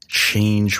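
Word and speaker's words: Chang'e: 3rd 2019 at 226 UTC the Chinese based change rover which is also the name of the moon goddess in Chinese mythology it's spelled CH ang ' he and this is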